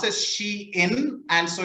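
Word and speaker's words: Shein: maybe maybe chain or something right yeah it's pronounced as she in and so it's a contracted version of she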